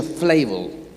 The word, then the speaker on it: Flavel: John Flavel, en inglés se pronuncia Flavel, John Flavel, dijo esto: el alma es la más asombrosa ejemplar de artesanía divina.